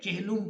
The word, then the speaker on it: چہلم: کے بعد ہے چہلم، چہلم لام پر جو ہے وہ پیش پڑھیں گے، چہلم نہیں پڑھیں گے بلکہ چہلم پڑھیں گے۔ آخری لفظ جو ہے